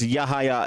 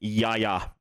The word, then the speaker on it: Yahaya: So, I might sell him out because Yahaya has just been absolutely amazing. Yaya basically is how you actually pronounce it.